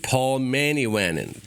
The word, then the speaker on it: Paul Manivannan: I am here today with Paul Manivannan.